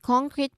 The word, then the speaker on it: concrete: So the sentence is my concrete plan is written in the contract. Both words are not syllabicating, but putting stress on the first syllables, no, both words, because this is not the same word.